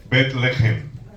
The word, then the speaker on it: Betlehem: Betlehem. Betlehem. Esa H gutural, que es una J, ¿verdad?, en la garganta, al mundo galileo se le hacía difícil pronunciarlas.